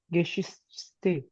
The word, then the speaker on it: Geschichte: Ma'am ये ऊपर वाली जो लाइन है, हेडिंग्स जो हैं इसकी, ये एक बार इसकी प्रोनाउंसिएशन क्या होगी? आइने लीम गिश लीबस Geschichte। लीबस गेशिस्ते।